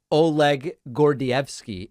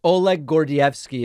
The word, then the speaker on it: Oleg Gordievsky: guardian right uh yes oleg gordievsky is my anglicized pronunciation of the gentleman's name okay thank you all